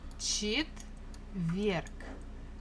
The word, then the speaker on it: четверг: Stress falls on this last syllable. Четверг. So the last letter is G, but we can easily pronounce it as K, just to make it a little bit easier for us for articulation.